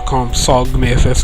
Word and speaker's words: Compsognathus: This particular creature was actually inspired by Compsognathus, or Compsognathus if you want to pronounce it that way, in Jurassic Park, the original Jurassic Park.